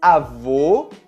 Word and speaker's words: avô: Com o acento circunflexo, nós temos um som um pouco mais fechado, como nas palavras ônibus, abdômen ou anônimo. É muito importante você pronunciar corretamente esses sons, porque você pode trocar as palavras avô, masculino, pela palavra avó, feminino. Avô, fechado, avó, aberto.